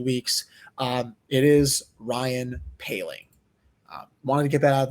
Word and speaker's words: Poehling: week or two weeks uh it is ryan paling wanted to get that out of the way